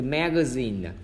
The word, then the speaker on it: magazine: Từ magazine, magazine là cấm short đây là né, âm sao sao g, và thứ hai là âm short là zin.